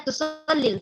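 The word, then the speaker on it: تصلي: Dalam pelafalannya seperti tidak ada ya, tapi dalam penulisannya ada. Aina tusallil fajr?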